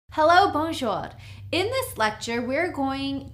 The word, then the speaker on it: bonjour: It's 2 syllables, bonjour.